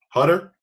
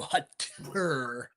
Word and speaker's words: Hutter: So now, well, see, this is your last name is pronounced Hutter. Yeah, two So, T's though, so Hutter.